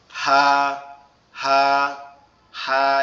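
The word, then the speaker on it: ه: আর হা যে অক্ষরটা আছে এটা হচ্ছে আমাদের এই কণ্ঠনালীর এই শুরু থেকে বড় আওয়াজে, হা হা হা, এরকম ভাবে উচ্চারিত হবে।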